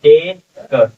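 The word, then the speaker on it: take: के लिए आया है टे क टेक और ई को हम छोड़ देंगे यही चीज देखिए ऊपर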